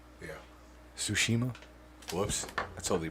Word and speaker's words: Tsushima: yeah i think i think it's ghost of fukushima tsukushima yeah tsushima whoops that's all they butchered that sushima it reminds me of onimusha